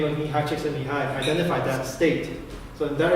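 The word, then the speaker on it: Mihaly Csikszentmihalyi: Yeah, so it's Mihai Csikszentmihalyi. That's how you pronounce it. So Mihai Csikszentmihalyi identified this mental state of flow.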